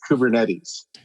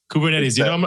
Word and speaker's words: Kubernetes: are you let me help you with the pronunciation it's kubernetes kubernetes you can tell i'm not a developer when